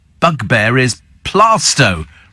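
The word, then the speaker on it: Plaistow: pronouncing bug bear is plasto every travel reporter apart from Joanne obviously pronounces it PLO it's plasto says Kevin the milman how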